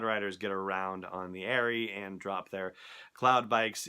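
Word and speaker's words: Aerie: on sour 7x7 again as in an eagle's nest a nary a ye are ie not as in the Abercrombie & Fitch brand or whatever it is anyway so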